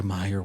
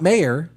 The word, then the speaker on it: Mayer: Um you know even in the movie The Santa Claus he says it was an Oscar Meyer weenie whistle. Not mayor. He said it Oscar Meyer.